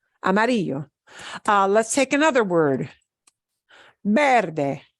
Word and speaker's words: verde: Verde. Ends in a vowel. We punch this syllable more, harder.